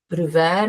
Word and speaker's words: Bruwer: I'm Bruwer, as we pronounce it in Afrikaans, which is my mother tongue.